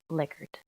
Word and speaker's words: Likert: Sarah Burnham and my pro project is about liquor scales I'm sure many of you thought it was pronounced lyer scales and sometimes I slip up and say lyer but it is pronounced liard here's a little history about rensis licker um